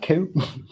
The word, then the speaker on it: ciw: I call that Q. It's okay. CIW, Q. It's the Welsh word for Q, Q-U-E-U-E.